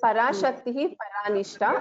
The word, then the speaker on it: पराशक्तिः परानिष्ठा: This Parashakti, Paranishta, after Visarga, there is a Pa Akshara. So this is a Upadhvaniya. So it has to be pronounced as Parashakti Paranishta. So after Visarga, if there is Pa, then Parashakti Paranishta. That is how we pronounce this.